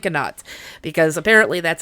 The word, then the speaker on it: Canot: And when you look it up on YouTube, it tells you to say cano because it's giving you the French pronunciation, but in every documentary I watched, they said canot. So, I'm saying canot because apparently that's how the locals say it.